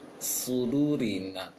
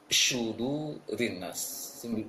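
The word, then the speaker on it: صدور: Kebanyakan sebagian besar dari apa yang kaum muslimin yang anak jumpai, yang pernah belajar dan juga anak dengarkan bacaannya, mereka membaca syudu rinnas seperti membaca shin titik tiga, yang mana seharusnya adalah dibaca seperti sin yang tanpa titik namun ditebalkan su.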